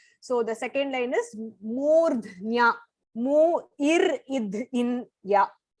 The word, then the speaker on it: मूर्ध्न्या: So you can split it as murdhnya dhayatmana. So when you say it together, murdhnya dhayatmana pranam. Murdh, the ir has to be pronounced first. Murdhnya, and there is a mahaprana id there.